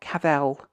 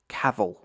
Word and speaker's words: Cavill: to Americans watching this is not kavel it is not anything like it's Cavill Cavill that's one of like